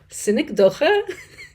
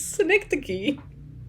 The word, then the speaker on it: synecdoche: I always want to pronounce it synecdoche. It is not. It's synecdoche.